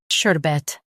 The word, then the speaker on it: sherbet: Emphasize sher and keep bet soft. Shur. Bet, sherbet.